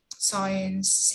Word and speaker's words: science: silent b and here we have silent c okay like ancient like conscious like conscious like christian like disciple like evidence or events or like science and scene so these are the